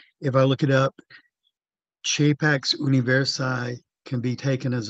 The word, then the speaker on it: capax: It's Chapax, not Capax. Chapax. Oh yeah, well that's the way a priest might pronounce it in church Latin.